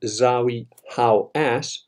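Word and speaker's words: Zahi Hawass: And he mentioned this, he made it public, he made people know about it, and of course, Zawi Hawass, that is the correct pronunciation of his stupid Egyptian name, who controls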